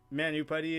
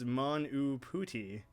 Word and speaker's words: Manu Puti: Manu Putty is totally wrong on the pronunciation. It's Manu Puti. Manu Puti? Manu Puti. Oh, well, I should have almost known that, like, the fact that I said the first U with an OO sound, I should have figured